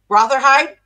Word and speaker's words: Rotherhithe: You know, Barry Duckett, who puts on, now another word I can't pronounce, Rotherhithe? How do you say that? Rotherhithe?